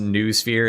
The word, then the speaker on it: noosphere: I know it's pronounced noosphere and I don't care. That sounds lame and I'm not going to say it that way.